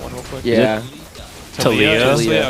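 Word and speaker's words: Taliyah: Talia. Okay, so Talia and Neela, they kind of rhyme. It's like a slant rhyme, sort of.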